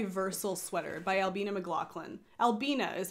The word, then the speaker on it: Albina: she's wearing my versal sweater by Albina McLaughlin Albina is how you pronounce that by the way for all of